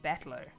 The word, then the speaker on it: Battler: Okay, and it's pronounced battler.